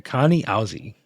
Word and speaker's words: Kenaz: Kenaz pronounced Kani Awaz. Okay, I'm totally not saying it right. It's pronounced Kane Awaz. Auzi. Kanan K Kani Azi. Auzi. Kani Auzi. Okay, Kani Auzi. That's how you say it.